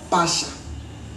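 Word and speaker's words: Pascha: En hébreu, la Pâque est tirée du mot Pacha. Ça s'écrit la lettre P, la lettre A, la lettre S, la lettre C et la lettre H.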